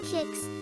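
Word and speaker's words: Qix: Pronounced kicks.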